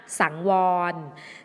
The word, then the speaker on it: สังวร: สังวร อ่าน ว่า สังวร สังวร อ่าน ว่า ว่า สัง วอน สังวร หมาย ถึง ระมัด